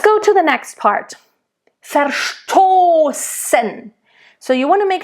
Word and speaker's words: verstoßen: Verstoßen. So you want to make sure, again, the V in the beginning is a nice F.